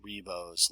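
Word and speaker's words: Ribot: the further back it will go and that's pronounced reo's law um and if you've ever seen momento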